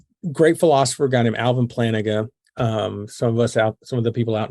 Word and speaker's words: Plantinga: Well, they pronounce it Plantinga. Plantinga. They've seen it, because I have a book in my reading shelf that David Noggle suggested. So Plantinga. So yeah, and I think most people pronounce it Plantinga incorrectly.